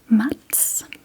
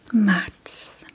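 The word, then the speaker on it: Marts: Mats. Mats. Mats. M A R T S. Mats, which is my birth month. I'm a Pisces. Yes. Matts.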